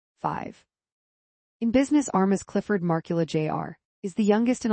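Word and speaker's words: Markkula: Marcula rhymes with sparkle. Ah, it's definitely not Marul A, as the characters weirdly say it in the 1999 movie Pirates of Silicon Valley.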